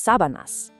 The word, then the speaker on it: sábanas: The sheets, and make sure you put the vocal stress right on that first A, are las sábanas.